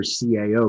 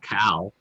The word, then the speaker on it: CAO: oh yeah i mean i still hear cao called cow right i still hear padron